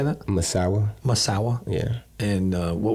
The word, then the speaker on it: Misawa: lived in Misawa how do you say that Misawa Misawa yeah and uh what was your favorite